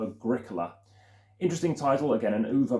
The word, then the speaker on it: Agricola: And this is one I mentioned in the first video to do with emphasizing the certain letter halfway through the word, and that is the letter C for Agricola.